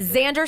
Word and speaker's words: Xander: Xander spelled with an X.